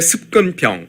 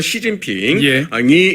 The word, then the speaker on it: 시진핑: 보통 그 2010년대 들어서 중국의 습근평 중국집 발음으로 시진핑이 집권하면서 노골화 된 겁니다